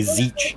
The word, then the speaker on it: Tzeentch: I usually pronounce it Zinch with a second N there, but yeah, I've heard people say Zeech as well.